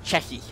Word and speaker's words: Chechi: Actually, the name that I've had the most trouble pronouncing is Chechi, which I'm still not quite pronouncing it correctly, but for the longest time I called it Sechi, and then when I was doing the 2v2 tournament, I had both Chechi himself, Chechi's manager Sunrise, and Pureby telling me the entire time that I was mispronouncing it.